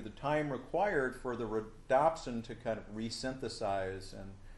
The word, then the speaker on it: rhodopsin: and the rod that's called rhodopsin some people pronounce it rod opsin which makes sense because it's in the rod but rhodopsin is more